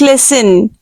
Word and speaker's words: listen: The word is listen. T is silent here.